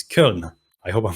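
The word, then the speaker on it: Köln: germany in colonia or if i have to pronounce it the german way it is kiln i hope i'm pronouncing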